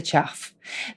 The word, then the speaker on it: chough: It is spelled Chough. That is the chuff.